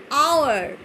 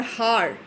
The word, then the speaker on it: hour: The pronunciation says R and hour. Hour. We don't say hour or har. So the H is silent over here.